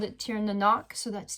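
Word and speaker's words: Tir na Noc: It has different names depending on what region of the world that you're in in Europe, but I called it tier nanok.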